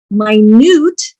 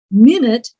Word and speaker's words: minute: Minute is a tiny amount. Minute is a part of an hour.